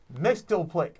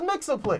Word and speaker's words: Mxyzptlk: That's right, you guessed it, Mxyzptlk. It was Mxyzptlk. Or Mxyzptlk. The Super Friends got it right. That pronunciation just sounds best.